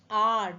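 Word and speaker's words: hour: He waited me for dash R. Pronunciation is starting from R. Though the first letter is H, which is silent, we have R and R.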